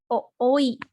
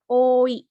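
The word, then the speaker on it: おおい: ini ada dua ya huruf o nya dibacanya Bukan ooi tapi oi dibaca panjang ini mungkin bakal dipelajari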